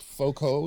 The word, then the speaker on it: Foucault: But Foucault, is that how you pronounce his name? Foucault, yeah.